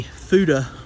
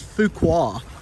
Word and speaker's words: Fuqua: was completely mispronouncing it it was not a fuda bros it was fuqua after i cleaned it up it was spelled f-u-q-u-a so fuqua bros and it's pretty cool because